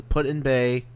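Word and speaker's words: Put-in-Bay: it was put in back that's how it's pronounced excuse me so um so put in Bay and the uh Kelly's Island needs to be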